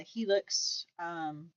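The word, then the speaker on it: Hilux: And so I think we're leaning more towards possibly buying a truck and the Helix. I pronounce it right? Yeah, it's a Helix.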